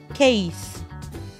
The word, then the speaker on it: case: السي استهبلت وعملت نفسها كي فقلت سي اي اس اي والاي اسمها ماجيك اي او سايلنت اي يعني مش بنطقها بقول كيس كيس بنسل كيس.